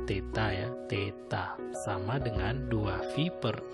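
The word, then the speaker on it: θ: Sehingga ini bacanya theta ya, theta sama dengan 2VR per R, maka theta sama dengan 2V radian.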